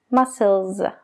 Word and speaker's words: muscles: Realmente la última S que se añade para formar el plural de esa palabra es casi como una Z. Muscles. Muscles. Entonces no son muscles. Muscles.